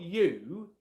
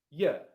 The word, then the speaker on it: you: It's not you, it's ya. And the important here and this is critical to you sounding natural in English, okay? The reason why I'm pronouncing it differently is because how English is spoken as a language.